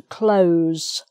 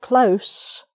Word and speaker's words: close: the word close okay if you ask someone to close the window it's a z sound but if you have an s sound um it will probably